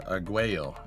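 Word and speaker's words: Arguello: They use that pad at point uh at point Auo or Aguo would be the right way to say that.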